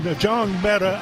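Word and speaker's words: Njongmeta: me to pronounce and I'll spell it NJ o n meta so it's n Jang meta I guess that's the closest that I can get the outside linebacker number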